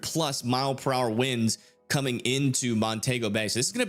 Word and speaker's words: Montego Bay: per hour winds near uh I think that's Montego, is that how you say it? Yeah, Montego Bay up there as well.